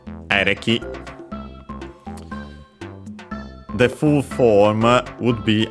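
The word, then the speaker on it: エレキ: Actually an abbreviation of electricity, which by the way is accented on the first syllable, ereki.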